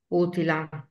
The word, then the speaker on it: utila: la novaĵo pri perforto ne estas utila. Utila. Yes. L'accento estas chiama en la antaulasta silabo.